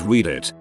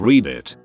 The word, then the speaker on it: Reddit: On a similar note, I used to pronounce Reddit as read it instead of read it.